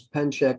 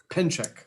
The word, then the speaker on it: Penchak: much uh next pennsyk did i pronounce your name correctly very close pen check is the proper pronunciation pen check okay well thank you